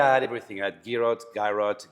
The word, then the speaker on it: Girot: So think about the Giro d'Italia, and that's the best way to pronounce it, Giro. Okay. So there you go. But here I had everything. I had Girot, Girots, whatever.